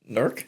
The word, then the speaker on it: Newark: Wait, so you It's pronounced Nerk. Is that a New Jersey pronunciation of Yes, that is a No, that is Okay, so it's spelled N E W A R K.